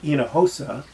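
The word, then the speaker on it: Hinojosa: Um, there's one that I mentioned to you before, David, and that was um, Tish Enahosa, and that's spelled H I N O J O S A.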